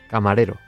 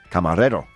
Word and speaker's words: camarero: Would you say it for me just so I can repeat your pronunciation? Camarero. Camarero.